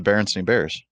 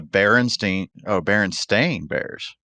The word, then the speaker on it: Berenstain Bears: Yeah, you would think. This is what it actually is, according to this universe. The Berenstain Bears. Yeah. Most people remember Berenstein Bears.